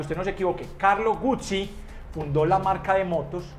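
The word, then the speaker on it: Guzzi: y para que usted no se equivoque Carlos Gucci fundó la marca de motos moto Gucci y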